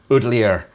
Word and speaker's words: Ootlier: Ootlier is pronounced as a Scot would pronounce outlier, but with an oot. Ootlier. Ootlier?